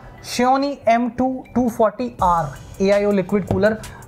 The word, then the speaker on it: Xiaomi: मुझे पता लगा कि इसके जो प्रोनंसिएशन है that is नॉट Xiaomi, it's pronounced as Xiaomi।